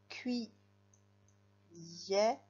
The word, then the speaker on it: cuillère: Cui yer.